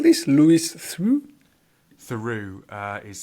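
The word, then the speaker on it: Theroux: that I listen to regularly is the Louis through podcast c um Lou through is a British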